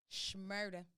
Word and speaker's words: Shmurda: our boy bobby schmurder shmurda my girl was getting on me about not pronouncing the s h and shmurda he came home